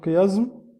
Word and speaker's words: chiasme: Donc, vous voyez ici, le chiasme ou le chiasme, ça dépend de la prononciation.